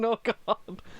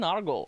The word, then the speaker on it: Nørgaard: Christian Nørgaard. I don't know why I did the accurate pronunciation.